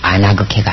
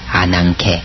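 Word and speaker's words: ἀνάγκη: 그 다음에 9페이지 감마는 구개음 앞에서 크스 앞에서 이음 발음 납니다. 아나그케가 아니라 아난케 그렇습니다.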